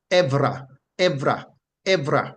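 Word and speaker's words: עֶבְרָה: as EB r a h and it is pronounced Evra Evra Evra remember the b in the Hebrew is pronounced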